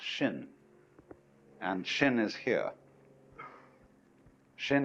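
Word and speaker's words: 心: In Chinese, mind is this word pronounced shin, and shin is here.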